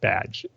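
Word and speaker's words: B'dg: I hope I'm saying that name right because it's spelled B''DG. So I think it's pronounced Badge, hopefully, if I remember right.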